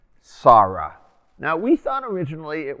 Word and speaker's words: Sarah: modern hebrew not as sora as in a yiddish-sized hebrew but as sarah with that long ah under the aleph the daughter of somebody